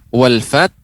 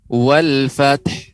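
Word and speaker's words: والفتح: Ya, pengucapan wal fath dia harus diberikan ha. Wal fath.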